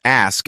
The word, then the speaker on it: ask: pronunciation many people mispronounce ask as aches remember the S comes before the K also Escape is often